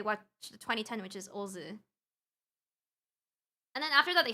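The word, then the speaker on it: OOO: You pronounce this Ozu.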